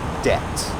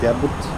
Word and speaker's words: debt: Debt. Debt. Okay, which letter I don't pronounce? Debt. This B. Never say debit or something like that. It is debt. D-E-T.